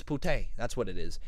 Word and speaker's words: putain: It's putain. That's what it is. It's putain. Le correct prononciation de putain en français est putain.